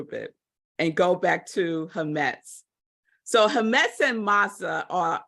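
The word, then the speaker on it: חמץ: So that's the word, but it's pronounced hametz.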